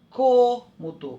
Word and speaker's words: cômodo: Agora a gente vai fechar a boca, som fechado. Observem. Cômodo. Olha a minha boca, eu fecho bem.